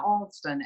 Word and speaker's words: Alston: sending those over so who was reverend eli austin wilkes he was a methodist minister and you know in the southern pronunciation a lot of people spell his name a-u-s-t-i-n but his reverend eli olsen a-l-s-t-o-n wilkes and he was the methodist minister